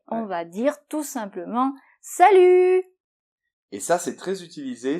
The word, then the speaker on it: salut: nous fait u et on ne prononce pas le t final. Salut.